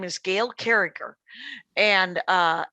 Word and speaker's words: Carriger: Her name is Gail Carriger, and it's Gail Carriger, and it's spelled Gail Carriger, but she goes with a hard G on the second G.